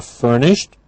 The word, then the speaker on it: furnished: you looking for a furnished or unfurnished place? Now, bathroom, not difficult, living, but notice again with furnished. It's a t at the end for the ed ending, but again, you would